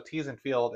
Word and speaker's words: Theesfeld: So Theesfeld, it's actually spelled like my last name, Theesfeld. Yeah. But instead of pronouncing the Feld, we did Field because we do a lot of agriculture stuff.